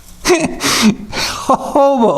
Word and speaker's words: jojoba: Jojoba oil. It's spelled J-O-J-O-B-A, but it's pronounced jojoba.